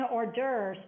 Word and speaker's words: hors d'oeuvres: You don't say d'oeuvres. There's no R in d'oeuvres.